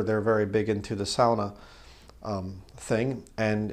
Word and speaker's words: sauna: that is it's a a lot of people say sauna but sauna is not actually the right way to say it's SAA uh sort of like sour cra sa is sa so the you know it's